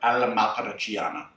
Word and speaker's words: all'Amatriciana: We are making Bucatini alla matriciana, or alla matriciana is a more concise pronunciation.